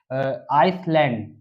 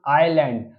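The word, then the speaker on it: island: में एस यूज होता है तब एस हमेशा साइलेंट होता है तो हम यहां पर कुछ एग्जांपल देखेंगे जैसे कि यहां पर है आइसलैंड है ना तो इसको पढ़ेंगे हम आइलैंड तो बहुत बहुत से लोग आइसलैंड भी पढ़ते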